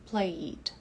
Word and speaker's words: played: Então, veja que esse E caiu fora na pronúncia. Played.